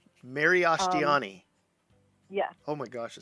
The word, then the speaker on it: Miriashtiani: It looks really confusing at first, but it's completely phonetic, I swear. It's Miriashtiani. Miriashtiani.